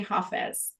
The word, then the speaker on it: Hafiz: So anyways, when I saw his name, Hafiz, I don't know if it's pronounced Hafiz. In Farsi, we say Hafiz.